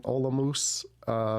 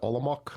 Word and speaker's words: Olomouc: My favorite was in Olomouc. Some people pronounce it Olomouc, but it makes the people from Olomouc makes their ears turn.